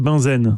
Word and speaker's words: Bunsen: Vous savez comment on prononce Bunsen en français ? Le bec benzène. Benzène, exactement. Et c'est le même monsieur